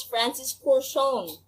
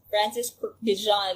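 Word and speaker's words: Francis Kurkdjian: pronounce his name and apparently it's francis corson that's it it's not francis bijan it's francis for francis corson and um he was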